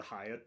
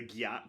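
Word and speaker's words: Hyatt: frosties which was the Hiatt Place uh one of my friends was like oh we're almost to the Gat place because it's spelled h y a TT uh and then there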